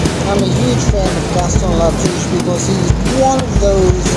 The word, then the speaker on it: Gaston Latouche: Gaston Latouche.